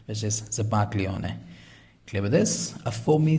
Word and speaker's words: zabaglione: The pronunciation of this is zabaglione. So G is a little silent, and this is an Italian word, which is zabaglione.